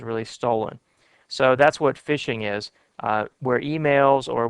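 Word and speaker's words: phishing: is called fishing uh it's spelled p i sh iing G but they say fishing and this is where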